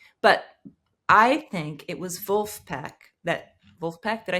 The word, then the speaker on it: Vulfpeck: trade press sure but I think it was vulf peek that Wulf peek did I say it right